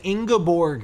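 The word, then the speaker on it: Ingeborg: You pronounce it as Ingaborg here. Hard G.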